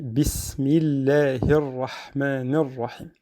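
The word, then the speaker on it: بسم الله الرحمن الرحيم: Donc on ne dit pas bismillahi. Donc c'est un peu difficile, même c'est pas très beau à entendre. Et on dit bismillahirrahmanirrahim.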